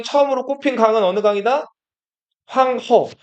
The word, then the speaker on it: 황하: 여기서 허 자체가 우리말로 쓰면 하라고 쓰거든요. 하라고 쓰는데 한자로 쓰면 자 이렇게 써요. 이게 물 하자예요. 그래서 원래는 그냥 황허 이거 중국어로 허라고 읽는 거고 황 하나 황허로 읽는게 맞아요. 황호 강하면은 황광 이렇게 되는 거예요. 그래서 원래는 황하 이렇게 한 글자로 읽는게 맞다.